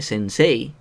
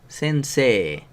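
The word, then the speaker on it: せんせい: La palabra se leería sensei, ¿vale? Porque la palabra, como tal, sensei, escrita, tiene el sonido de E, I al final. Entonces la pronunciación al final siempre va a ser E. Uy, me ha quedado aquí la raya. Bueno, siempre va a ser E larga, ¿vale?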